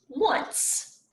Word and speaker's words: once: so it's pronounced once as in i once had a fish it's kind of pronounced like the one over here like a w-u-n but it's got a